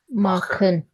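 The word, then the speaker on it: machen: Whenever before CH you see A, O, U, then CH will be pronounced as kh. Yeah. So K. how will we pronounce this word? Makhan.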